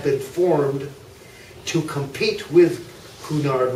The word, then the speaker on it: Cunard: formed to compete with Kunar which the British pronounced cue nard right right at any